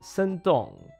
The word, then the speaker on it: Shandong: I'm going to use the Chinese pronunciation. Shandong, Guangdong, Shanghai, Zhejiang, Jiangsu, Henan, Fujian, Sichuan, Liaoning, Hunan.